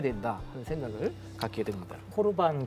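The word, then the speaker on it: קרבן: 하냐면 코르반 선언하는 거예요 코르반이 이제 우리 성경 고르반 돼 있는데 이게 뭐냐면 레위기에 보면 하나님께 드리는 양이나 소 이것이 하나님께 대해 예물체물 이걸 히브리어로 코르반 이렇게 발음을 하잖아요 그래서 레위기 1장 2절에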